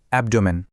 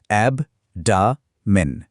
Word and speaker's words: abdomen: সবার আগে দেখা যাক এর উচ্চারণটা কেমন আর এর পরিচয়টাই বাকি। তো সেই শব্দটি হল অ্যাবডোমেন।